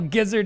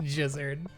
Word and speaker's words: gizzard: Well, gizzard is not pronounced jizzard.